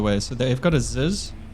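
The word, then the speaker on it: ZiS: So they've got a Ziz. I think it's a Ziz. That's how you say it.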